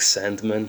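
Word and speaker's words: Sandeman: A lot of the more important brands have their cellars there, like Sandman, pronounced with an E, Taylor's and Croft, a lot of others really.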